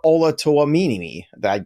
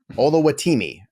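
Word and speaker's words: Oluwatimi: Kevin selected Olusegun Olatoamini. I think I screwed that up. Olawatimi.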